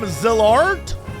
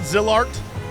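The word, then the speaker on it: Zilart: We're calling them Zillard, not Zillart. Zillard.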